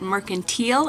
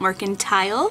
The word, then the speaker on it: Mercantile: I learned that recently the Pioneer Woman herself pronounces it Mercantile and not Mercantile.